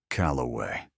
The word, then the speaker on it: Calloway: and a preacher who kept mispronouncing my last name. Calloway. 3 syllables.